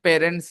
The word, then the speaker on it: parents: So you pronounce it parents and people pronounce it various.